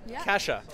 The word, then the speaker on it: Kasia: yeah and cassia did I say it right Kasha Kasha Kasha great um sorry for my bad